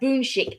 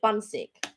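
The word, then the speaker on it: 분식: Oh, we got a boonshik as because we were calling it bunsick, and then Gloria corrected me via email and said, oh, it's sort of pronounced like boonshik.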